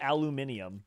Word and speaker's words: aluminium: I think there difference British people just call it aluminium but it's Al it's literally there's no difference I was like convincing